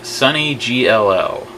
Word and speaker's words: sonnygll: Many people actually change an L to an I, making it when they write it out. It's actually pronounced sonnygll.